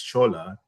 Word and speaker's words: Shola: the short form is schol. Yeah. Which takes off the olu. Yeah. And it's spelled s o l but it's pronounced as s h o l just to make it